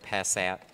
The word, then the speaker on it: Passat: My robot voice said Passat.